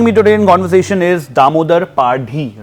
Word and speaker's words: Damodar Padhi: Joining me today in conversation is Damodar Padhi, right? Am I pronunciation correctly?